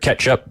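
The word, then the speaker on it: Kjettrup: first guy you said it's catchup Fred ketchup yep I and I think that's how Coach Jones pronounces it when we talk about it on the air but uh if you look at it it does not look like that it don't look like ketchup no it's KJ yeah yeah yeah it's mustard actually yeah it's KJ t t r u p oh yeah yep great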